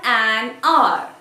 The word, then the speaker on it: hour: set an exam for an hour. For an hour. I don't say hour. Since the word starts with H, I don't pronounce it hour. I say R. It means the first letter is silent.